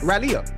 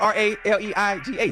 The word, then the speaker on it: Raleigh: I've been to uh Raleia.